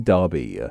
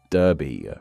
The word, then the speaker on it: Derby: As you can hear, I'm pronouncing with an A like sound as that's how the UK version is said. But the one found in the US is said how you might expect it to be said, with an E.